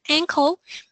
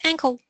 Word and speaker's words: ankle: an uncle so careful some of my students often have a problem with the pronunciation of the two words so the uh the body part is an ankle and your uh well relative is uncle right hope you see the difference ankle Uncle you can repeat actually